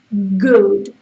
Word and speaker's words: good: Pero cuando tú pronuncias eso, good, si te das cuenta, la zona de detrás del paladar sube, good, ¿vale? Good. Entonces, se pronuncian igual, pero en una la U es muy sutil, no toca, would, y en la otra, g, sí que toca el paladar con la parte de arriba, ¿vale? Good, ¿ok?